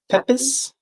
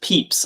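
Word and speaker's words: Pepys: Everyone says it's pronounced Peeps.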